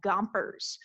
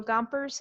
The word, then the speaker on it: Gompers: way of remembering samuel gompers i think of i think a pac-man you ever played pac-man you know i think of him like gomping up stuff okay so chompers and that rhymes with gompers and that's i remember